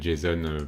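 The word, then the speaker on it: JSON: ji sun en anglais jason pour les objets javascript object notation et jason c'est la même prononciation donc ouais donc où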